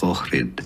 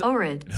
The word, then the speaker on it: Ohrid: How do we pronounce that? Because I Googled it and apparently the Macedonian way is Orid.